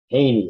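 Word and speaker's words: Jehne: Australian but uh j e h n e Haney it's pronounced apparently and he talks about this phenomenon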